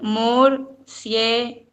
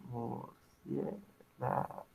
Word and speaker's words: murciélago: Murciélago. Ajá. Murciélago. Ojo con eso, Espina. Usted no dice murcie, o sea, usted no dice murcie como pegado.